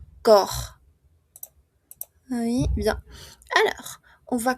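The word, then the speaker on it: corps: Entonces, hemos terminado esta parte le olviden que para decir cuerpo no pronunciamos la ps cor.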